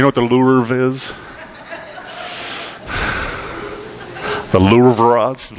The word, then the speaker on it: Louvre: say it right how do you say it Louvre alright see I'm married to an art teacher